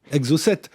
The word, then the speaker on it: Exocette: Alors, parlez-nous de ce livre et d'abord de son titre, Exo7. Ça s'écrit E-X-O-C-E-2-T-E.